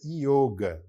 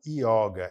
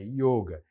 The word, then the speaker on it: yoga: A gente pronuncia dessa maneira, yoga, não yoga, é yoga.